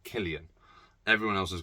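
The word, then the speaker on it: Cillian: lson cylian Murphy or Killian Murphy apparently that's how you say his name Killian everyone else is called him selan uh Jack Rainer Babu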